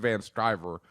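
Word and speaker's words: Van Sciver: are by I want to say it's Ethan van striver I hope I pronounced his last name right yeah that's right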